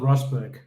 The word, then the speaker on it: Rusbjerg: I used to live in England, so I took away the J because it got too complicated. I call myself Rusbjerg when I'm Okay.